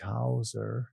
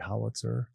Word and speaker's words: howitzer: And then Lloyd commanded a six gun unit and there was five to six people on each houseser. I think I pronounced that right. Howitzer.